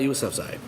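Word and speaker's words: Yousafzai: I also make sure I get this name pronounce her last name correctly nice outside Malala yousufzai if many of you have heard that name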